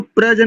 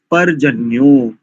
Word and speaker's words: पर्जन्य: का जो तीय शब्द उसको प्रजन नहीं करेंगे प्रजन नहीं करेंगे परजन्य परजन्य ठीक है स धन्यवाद सोमाराम